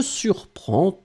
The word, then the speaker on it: surprend: En conjugaison, donc je surprends, tu surprends, il, elle surprend. The important thing in that case is to remember that first, you will pronounce them exactly the same way. Surprend, surprend, surprend.